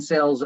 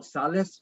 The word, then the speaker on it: Sales: No, And it's what are you in sales of? Vehicles or? Oh no, that's actually my name. Oh, Salas, or how do you pronounce it? Sales. Sales. Okay. Sales.